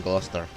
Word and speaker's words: Gloucester: Von Helm Gloucester. Lawrence Hellman von Gloucester, sorry. Gloucester. This is the fucking American pronunciation. It's like they call Worcester, Worcester, and Gloucester, Gloucester.